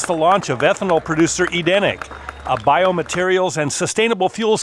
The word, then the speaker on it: Edeniq: I am here at how do you pronounce it? Edeniq? Edeniq.